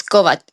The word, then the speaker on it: Kovacic: Kovacic? Oh, it's so hard. I mean, nobody has ever said my name the right way. If you say it like in a Croatian way, it's Kovacic.